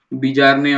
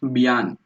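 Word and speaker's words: Bjarne: है ना, ये तुम्हें बीजारने वगैरह कुछ तो तुम्हारे दिमाग में आता रहेगा पढ़ के। ये बीजारने वगैरह नहीं है, बियान। जे इज वेरी मच साइलेंट।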